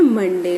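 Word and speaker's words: Monday: Sound आ रही है, लेकिन जब हम मंडे की स्पेलिंग लिखते हैं ना तो मॉन्डे हो जाता है। देखो, मो है मोमो, न मॉन, ड ए वाई, मॉन्डे, है ना। इसको हम बोलते हैं मंडे, लेकिन जब हम स्पेलिंग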